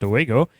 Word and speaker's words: Dowego: The Dowego, pronounced Dowego, is also said to resemble a large black dog or wolf.